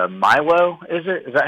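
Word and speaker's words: Mailloux: I think it's Milo, is it? Is that how you say his name? I think it's Mayu. Mayu?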